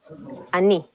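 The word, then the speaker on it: אני: So, for example, the word I or me in biblical Hebrew is Anochi. This same word has changed in modern Hebrew to Ani. Besides this change in pronunciation, modern Hebrew got a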